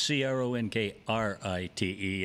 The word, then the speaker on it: Cronkrite: I said, no, it's spelled completely different, or it's spelled different with a K and a R in the middle of the name. Mine's Cronkrite, and his is just Cronkite.